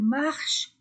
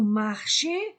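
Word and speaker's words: marchent: Il, elle marche, Nous marchons, ONS. Vous marchez, EZ. Il, elle marche, ENT. Et je ne lis pas, je ne prononce pas ENT.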